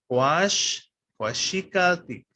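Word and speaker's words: cuaxicaltic: Remember, the stress is always on the second to last vowel, so it's quashik altik.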